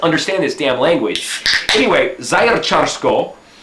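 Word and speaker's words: Zaječarsko: Anyway, Zajercarsko is how you say it, Zajercarsko.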